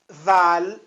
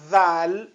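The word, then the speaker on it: ذال: de que a letra zal zal zal mais uma vez a pronúncia za za za né a língua sobre os dentes eh de cima za za os dentes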